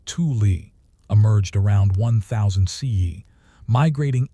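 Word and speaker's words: Thule: The fuel ancestors, the fuel culture, pronounced tuli, emerged around 1,000 CE, migrating eastward from Alaska into what is now Arctic Canada and Greenland.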